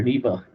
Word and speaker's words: NEPA: That's how they say it around here, NEPA.